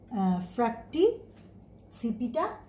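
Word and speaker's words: Fracticipita: একটি ভাগের নাম হচ্ছে ফ্র্যাক্টিসিপিটা, উচ্চারণ এভাবেই করবে যেন বানানটা তোমরা মনে রাখতে পারো, ফ্র্যাক্টিসিপিটা।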